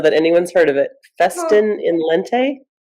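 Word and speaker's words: Festina lente: Festin in lente.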